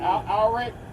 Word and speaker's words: Alaric: Alric? A-L-A-R-I-C. Alaric. Yep. Alric. You pronounce it like Alric.